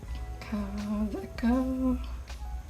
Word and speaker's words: Kaweco: Kaweco. I always want to say, pronounce the W, I think, too hard, but since it's German, I believe it is like a more of a V sound. Kaweco.